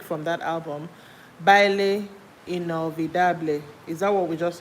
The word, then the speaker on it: inolvidable: I'm trying to pronounce something in inolvidable.